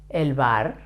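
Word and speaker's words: el bar: one elbar the bar elbar ER it's easy to pronounce elbar with a soft sound for the B elbar the following one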